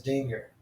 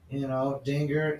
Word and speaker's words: Dinger: The mascot's name is Dinger. Which rhymes with singer. Dinger, singer.